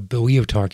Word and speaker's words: Boeotarch: A Boeotarch is one of the rulers of the Boeotian Federation.